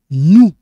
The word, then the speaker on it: nous: Nous parlons de la littérature contemporaine. So here, this one's like silent. We don't pronounce this R. Nous. We don't pronounce this S. Nous.